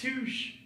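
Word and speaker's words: touché: It's pronounced touche.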